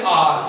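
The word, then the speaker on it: hour: शुरू हो रहा है, लेकिन इसकी जो आवाज है उसमें ये एच नहीं आएगा, ये साइलेंट है, ये इसको हम पढ़ेंगे आर।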